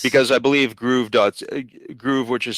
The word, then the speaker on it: Gruv: an Amazon reseller yeah, it's because I believe Groove, which is spelled GRUV.ca, that's the official reseller for Shout Factory.